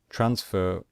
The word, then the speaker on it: transfer: Eed so for example transfer transfer we stress the first syllable so we do not